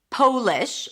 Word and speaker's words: Polish: This could be Polish as in someone from Poland. Then we want to make sure that the O is pronounced with a long O sound.